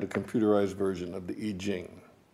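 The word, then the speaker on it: I Ching: computerized version of the e gene some people might pronounce that the I chain but it's ancient Chinese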